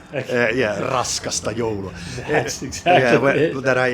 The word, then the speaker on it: Raskasta joulua: Raskasta joulua. I put a little bit more weight on the first R, because, well, we Finnish know how to say R, like Spanish do, for instance.